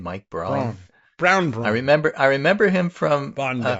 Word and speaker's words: Braun: I was like, well, this is spelled Braun, but he says Brown, and he's really awful.